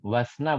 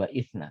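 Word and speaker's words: واثنا: Nah, wasna Bu ya bacanya. Jadi bukan wa isna, tapi wasna. Karena dia termasuk hamzatul wasl.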